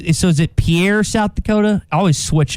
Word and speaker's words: Pierre: like so is it pierre south dakota i always switch it yeah the p pier is the capital that's how they pronounce it up there pier here and that's that's